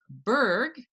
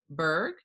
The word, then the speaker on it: Bourg: her name properly um if you look at this spelling it looks like borg but apparently a lot of people get that wrong including moi so this is and she's a really